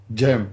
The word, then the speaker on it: Cem: a good one and the first name you pronounce gem gem gem like with the g like gemini just jam oh it's not a c in turkish is it like a g wow where are we learning stuff about you okay so it's gym gem yeah as like as in a gem like a diamond yeah oh the real